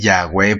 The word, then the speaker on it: Yahweh: Dice así: la mano de Jehová, yo lo voy a decir Yahweh porque es un nombre, pues, la pronunciación que yo creo es más correcta al original.